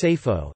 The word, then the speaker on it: Seyfo: the modern Assyrian Mesopotamian Neo-Aramaic designation Sapa, sword, pronounced as Sapho, and as Sapho in the Western dialect.